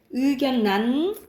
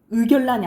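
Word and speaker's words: 의견란: 그래서 이건 여러분 발음으로 기억해. 의견난, 의결란이 아니에요.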